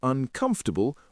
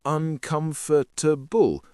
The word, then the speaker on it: uncomfortable: And did you notice I said uncomfortable with four syllables, not uncomfortable with five?